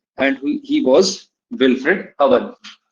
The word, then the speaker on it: Owen: and he was Wilfred Owen. Pronunciation would be Owen, not Owen. Pronunciation is Owen. Wilfred Owen, Owen, O-W-E-N.